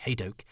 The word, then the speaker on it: Hadoke: of the day that my name is often pronounced incorrectly so that this Toby hadoke is how it is done and please could you